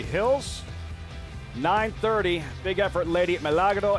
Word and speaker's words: Milagro: Gotta teach you how to roll your R's, Richie. Lady Milagro.